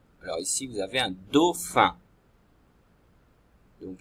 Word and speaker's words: dauphin: Alors ici, vous avez un dauphin. Donc il faut d'abord la syllabe do, et après la syllabe fin qui s'écrit, le feu de fin, c'est PH. Donc PH dans la deuxième syllabe.